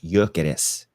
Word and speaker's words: Gyökeres: How do you pronounce Gyökeres? In Swedish. Gyökeres. Gyökeres. So you would say Gyökeres.